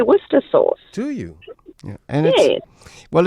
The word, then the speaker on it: Worcester: after the Earl of Worcester Worcester you know yeah and so are you pronouncing it you're pronouncing it with a V rather than with a W okay so you're giving